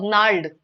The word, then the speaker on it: gnarled: So gnarled is the answer here.